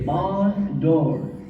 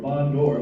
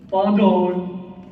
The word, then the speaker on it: bonjour: I don't think it's barn door or bondor, whatever you said. That's what the book say. Okay, well, are you sure you're pronouncing it right? It has a J in Oh, jor, not door.